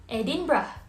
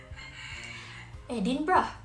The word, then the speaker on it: Edinburgh: good try everyone but the correct way to pronounce these words is edinburgh edinburgh okay now can you try again yay that's